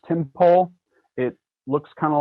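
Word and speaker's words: Tympole: My favorite critter lately is, I think it's pronounced Timpole.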